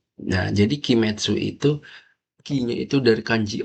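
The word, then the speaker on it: 鬼滅: Nah, sedikit tambahan lagi, Kimetsu itu ini kalau berdiri sendiri kan bacanya gini ya. Tapi kalau berdiri sama kanji lain, itu onyominya itu bacanya metsu. Nah, jadi Kimetsu itu ki-nya itu dari kanji oni.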